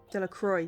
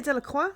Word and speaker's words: Delacroix: Delacroix, sorry. I would say Delacroix because it's French, but he said Delacroix, so I should respect his name pronunciation.